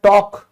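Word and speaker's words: talk: फिर बात करना तो आपने कभी ध्यान दिया टॉक? टॉक बोलते हैं, ये भी साइलेंट है।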